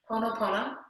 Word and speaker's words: Pono: Pono.